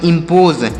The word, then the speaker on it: impose: IMPOSE, तो आई से पढ़ेंगे ई, और एम से पढ़ेंगे आधा म, और पी का उच्चारण प के रूप में, ओ से ओ की मात्रा, और यस ई से ज पढ़ेंगे। तो इसे पढ़ेंगे इम्पोज, इसे इम्पोज पढ़ा जाएगा।